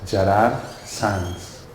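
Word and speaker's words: Gerard Sans: So my name, it's pronounced Gerard Sanz. This is Catalan.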